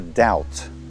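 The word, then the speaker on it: doubt: долг это просто дед следующее слово дауд сомнение или сомневаться это не до опции снова злополучная буква б здесь не читается дал темп tilt сомневаться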